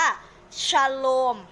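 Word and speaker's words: שלום: พันธ สัญญา เดิม นะ คะ ก็ อ่าน ว่า ชโลม นะ คะ ชโลม นะ คะ เรา ออก เสียง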